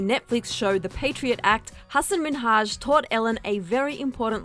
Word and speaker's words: Hasan Minhaj: Good, please, because everyone that says your name says Hasan Minhaj. Yeah, but the real way you pronounce it, and this is a big deal because my parents are here, it's Hasan Minhaj.